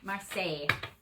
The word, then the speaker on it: Marseille: I just have to get my pronunciation back. Okay. Tarot de la Marseille. Marseille.